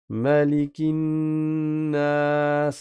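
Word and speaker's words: مَلِكِ: ensembleabinas malikin attention il n'y a pas de prolongation ici c'est pas comme dans d'ailleurs il y a deux lectures différentes. Il y a maliki qui existe et il y a aussi malin. Mais ici dans sourat, on récite pas avec la prolongation, on récite malikinas à vous.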